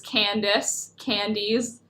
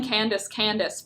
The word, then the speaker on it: Candies: I've been calling Candice for 2 years on this stream, and then like a couple of weeks ago she was like, it's actually pronounced like multiple candy, like candies, and I was like, cool,